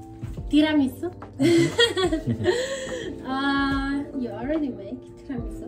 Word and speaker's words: tiramisu: Tiramisu. Okay. Tiramisu. Su. No. No. Su. Tira. Tira. You're like exaggerating the R.